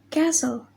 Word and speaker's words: castle: The next is Letter T. Rule. T is not pronounced in these common words. Example: castle, Christmas, listen, whistle, and a puzzle.